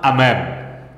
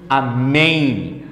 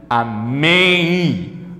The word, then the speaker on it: amém: aí aqui eu pronuncio amém amém amém I tá vendo esse I eu tenho Escondidinho por trás desse M eu tenho uma semivogal a pronúncia neste caso